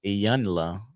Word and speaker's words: Iyanla: Just like when you watch the Ebony and Ayana, I think that's how you say it. Ayana. Yanla. Yeah, you watch it? Yanla. Iyanla.